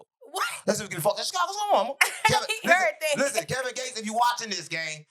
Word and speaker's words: Kevin Gates: So, everybody seen Kevin Gay's interview and he was saying he Kevin Gay, you got to say it right.